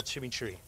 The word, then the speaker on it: chimichurri: a little chimichurri. You got a little chimichurro. Is that how you say it? Chimichurri. Chimichurri.